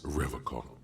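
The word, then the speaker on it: Revachol: stay strong forever call he pronounces rivercon with a hard K unlike other people my mug why would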